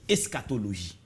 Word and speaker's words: eschatologie: comprendre ça veut dire eschatologie. Bon, eschatologie, c'est ensemble. Comment l'écrire en français déjà? E-S-C-H. Et bon, ouais, ça se prononce. Eschatologie, voilà, eschatologie. Hein?